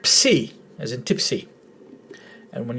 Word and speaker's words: psi: a word starts with ps, it's a different pronunciation. You don't pronounce the P. But when you see the letter psi in a Greek word, it's pronounced as ps.